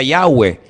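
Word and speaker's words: Yahvé: y he Bad he verdad ese nombre se pronuncia yahwe Ese es el nombre que aparece en el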